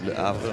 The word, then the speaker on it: Le Havre: Coming from Le Havre. Did I say it right? Le Havre, ouais.